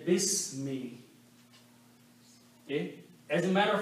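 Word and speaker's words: بسم: Also, when we read together, we do not pronounce this alif. We say bismi.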